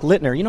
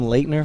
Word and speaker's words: Littner: We got Canadian Brock Littner. I've been calling him Leitner since I've known him. He must have been driving them nuts. Yeah. Like I mention him all the time, and I call him Leitner, saying it wrong.